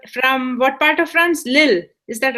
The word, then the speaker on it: Lille: from the Belgium um Belgium and France so Lil l e l l eou l e but pronounced Lil Lil L Lil okay oh very cool Lil